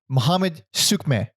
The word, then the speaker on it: Muhammed Suiçmez: So there was a cut because I had to look up how to pronounce the fucking guy's name. It's Muhammed Suiçmez.